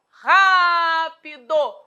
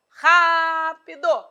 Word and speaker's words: rápido: já virou advérbio então rápido você observou a sílaba tônica é um proparoxítona pois a tônica apareceu na anti penúltima sílaba rápido agora rápidamente agora é